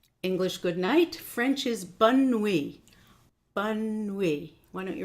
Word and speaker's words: bonne nuit: So, English good night, French is bonne nuit. Bonne nuit. Why don't you repeat after me so that you get the pronunciation.